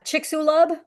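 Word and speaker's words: Chicxulub: you see why it's difficult for me to pronounce something I've never seen before yeah me either yeah chicksulub if I had to guess okay the chicksub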